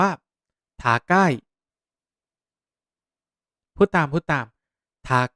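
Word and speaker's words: 高い: แบบ นี้ นะ ครับ คำ ว่า สูง ภาษา ญี่ปุ่น ออก เสียง ว่า ทา ใก้ พูด ตาม พูด ตาม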